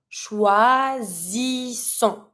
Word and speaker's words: choisissons: I know that I have to add my double S in front of my ending ONS, so I'm going to be saying nous choisissons. And I don't pronounce my final S.